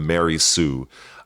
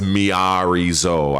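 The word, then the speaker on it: Miary Zo: a role-playing game character by the name of Mary Sue. I know how you pronounce the name.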